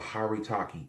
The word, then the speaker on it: haritaki: the best thing to ever take it's called haritaki h a r i t a k i